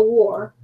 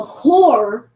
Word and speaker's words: whore: And the daughter of any priest, if she profane herself by playing the war, That W is silent. oh, okay, the whore, she profaneth her father, she shall be burnt with fire.